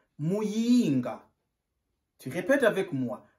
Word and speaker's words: Muyinga: On prononce Muyinga. Tu répètes avec moi. Muyinga.